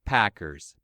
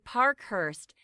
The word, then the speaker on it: Parkhurst: Chase Packers, baseball player. That's him. But actually, the reporter got his surname wrong. It should be Parkhurst.